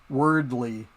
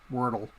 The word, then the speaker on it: Wordle: It's just like in my videos, I'm constantly calling wordly, because I can't remember that it's Wordle.